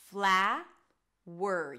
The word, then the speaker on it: flower: The first one is flower. Both are pronounced exactly the same. Fla-wer. You move from the W to the R. Wer.